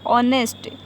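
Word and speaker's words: honest: H जो होता है वो क्या होता है साइलेंट होता है। इसको क्या पड़ जाएगा हावर नहीं बल्कि आवर पड़ जाएगा। ऑनेस्ट, ऑनर, हाँ तो क्या हो गया आवर, ऑनेस्ट, ऑनर।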